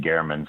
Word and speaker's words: German: German well Jeff was um and and he pronounced it Gman so I'm going to pronounce it the way